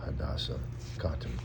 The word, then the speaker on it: Hoda Kotb: As her real birthday, her real name is Hodaseh Kotb. That's actually how you pronounce it.